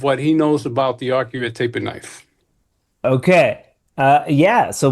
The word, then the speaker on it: Arcuate: And it's pronounced Arcuate. Arcuate. Well, the Arcuate. easiest way to pronounce it is if you take the letter R and the letter Q and add the number 8, that'll give you a good idea how to pronounce it.